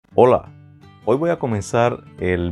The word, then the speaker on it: ola: olas del mar, pero es una palabra que se escribe sin H, pero se pronuncia similar a esa primera palabra que yo siempre digo en mis vídeos, hola.